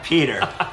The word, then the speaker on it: Petter: that's like yeah well that's not my name i'm peter it was p-e-t-t-e-r oh no he traveled